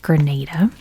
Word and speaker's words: Grenada: they called it granada but um it is pronounced grenada um and actually the island went by quite